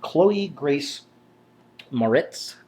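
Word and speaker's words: Chloë Grace Moretz: All right, number four is going to Khloe Grace Maritz, I believe is how it's pronounced.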